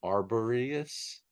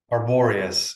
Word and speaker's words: Arboreus: Arboreus, Arboreus is how I always hear Jean Piero pronounce it.